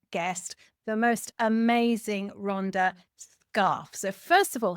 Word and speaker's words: Scharf: correctly did actually yeah most people say sharf and I don't get upset about it because in German that's the right way to say it but when we came